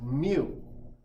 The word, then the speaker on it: mu: the symbol for micro looks like and you pronounce that as mu mu like that that's how you pronounce it